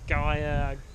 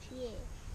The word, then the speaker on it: Gyr: Everybody has their own pronunciation of it. It was actually on Spring Watch. I think Chris Packham did a section on what you call it. I think it was him that did it. And it was like you can call it a Gyr, a Gaia, whatever you want to pronounce it really. It's just GYR. That means cheer.